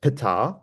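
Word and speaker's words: πατήρ: um the alpha so earlier on it would have been pronounced petar uh h is aspirated but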